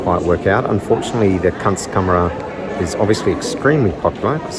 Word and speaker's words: Kunstkamera: It's Kunstkamera, thereabouts. It's derived from a German word which means art chamber.